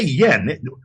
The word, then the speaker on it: yuan: I brought a bunch of cash, and I bought a bunch of, and they, we say yuan, by the way. They say yen. Y-U-E-N, they pronounce yen.